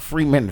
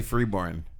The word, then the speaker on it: Freeborn: not Freeman. Freeburn. I said free bin by accident. Oh. Because I was thinking Melbourne, free bin. Yeah, they say Freeborn. Free burn. Nah. Yeah. Like that's how they all pronounce their last name.